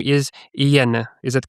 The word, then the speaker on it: Inyene: So that is why I understand your pain with your name, and I respect their correct pronunciation. So just to be on the same page, your name is Inyene.